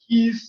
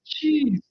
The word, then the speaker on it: qis: I remember pronouncing the word key as key, It can be QIS, and it was like kiss, and somebody's like, no, it's cheese.